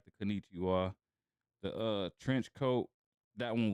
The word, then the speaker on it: Konnichiwa: I like that Kanuchia. How you say it? Yeah. I like Konnichiwa.